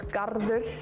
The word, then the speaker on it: garður: So, like, guard becomes garður. Garður, like a garden.